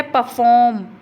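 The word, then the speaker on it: perform: फिर है परफॉर्म, परफॉर्म, पर को हम कम बोल रहे हैं, फॉर्म को हम ज़्यादा लंबा और लाउडर बोल रहे हैं, तो इसका मतलब फॉर्म पे क्या आ रहा है, स्ट्रेस आ रहा है।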